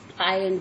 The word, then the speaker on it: island: अब तुम देख रहे हो कि यहाँ पे एस है, बट मैं इसे बोल नहीं रही हूँ, ये एस साइलेंट है। आइलैंड बोलते हैं।